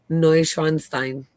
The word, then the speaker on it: Neuschwanstein: Now Jeter said it's pronounced Neuschwanstein. No, Neuschwanstein. no, Scheinstein. No, Neuschwanstein. no, Yes. Scheinstein. Huh? No, Neuschwanstein. Neuschwanstein.